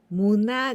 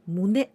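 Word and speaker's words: 胸: Well, muna, here I pronounce muna, but this kanji we pronounce mune. Mune in chest. Chest. And also sometimes we can pronounce kyo. But here in this case, we don't pronounce the kyo nor mune, but muna.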